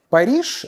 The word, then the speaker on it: Paris: постепенно туда уходят, и Париж становится Парижем, точнее он становится Пари в конце «с», которое не произносится. Это тонкости французского языка.